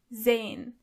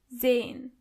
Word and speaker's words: sehen: To see is sehen. Sehen. As you can see, the letter S is not pronounced as S, but more like Z. So you say sehen.